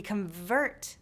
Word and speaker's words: convert: which part is stressed: We reJECT the REject. We reCORD the REcord. We conVERT the CONvert. We inSULT someone with an INsult. Do you see a pattern here? Yes – these two-syllable verbs often stress the second syllable; the nouns often stress the first syllable.